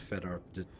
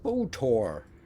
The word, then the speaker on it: Fedor: You have no idea that it's supposed to be pronounced Fedor when you look at it. Fotor.